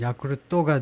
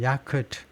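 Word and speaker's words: Yakult: 일본의 칼피스가 우리가 먹는 야구르트에 비해서는요, 그러니까 이게 일본 회사에서 만든 건데 일본식 발음은 야쿠르토가 되고 영어 발음은 야쿠트 그 정도가 되는데요.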